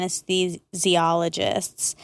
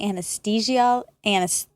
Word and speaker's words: anesthesiologist: You say anesthesiologist. I say anesthesiologist. Yeah, you say anesthesiologist. Yeah. I say anesthesiologist. Oh, my goodness. You love your THs. That's how it's spelled. Sure. So, just like Neanderthal.